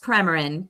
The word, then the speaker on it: Premarin: Yes, it's pronounced Premarin.